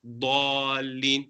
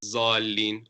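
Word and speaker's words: الضالين: Dallin, not zallin or dhallin.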